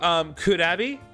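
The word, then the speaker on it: クラビー: So if you didn't know, so Kurabi, which it's really funny because that is basically like the it's the romanized pronunciation of Krabby, because Japanese wouldn't say Krabby, they would say Kurabi.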